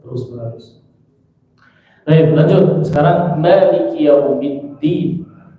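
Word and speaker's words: مَالِكِ: Sekarang maliki yaumiddin. Ma tipis. Ma. Liki. Jangan leke. Ma leke, bukan leke. Liki. Maliki.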